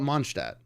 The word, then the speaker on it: Mondstadt: pronounce that? Mondstadt. I call it Mondstadt.